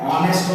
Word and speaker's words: honest: He is an honest man. Honest man. Have a look. Honest man. An honest. H. Honest. This H is silent. Actually, H is a consonant, but it produces vowel sound.